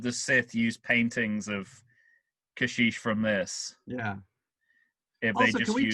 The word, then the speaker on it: Kashyyyk: way revenge of the sith used paintings of kashish from this yeah can we talk about that because i've i've heard that it's supposed to be uh pronounced kazook very spelled kashyyyk i mean if you spell